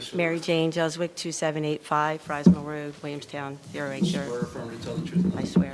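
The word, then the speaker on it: Juzwiak: Mary Jane Jwick, 2785 Fry Road, Williamstown 08.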